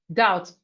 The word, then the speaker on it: doubt: We have doubt. So here the B is Here the B is silent, okay? The B is silent. Doubt, doubt, doubt. The B here is silent.